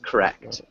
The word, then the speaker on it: correct: the other small thing correct we actually emphasize the second syllable of correct can you repeat correct